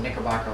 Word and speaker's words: Knickerbocker: And Knickerbocker is not spelled with a K. Oh, it's not? No. I thought that was a misspelling. No, it's actually spelled Knickerbocker like nickel, Knickerbocker.